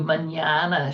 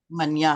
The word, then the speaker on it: mañana: See you mañana, she says with the emphasis he has come to hate.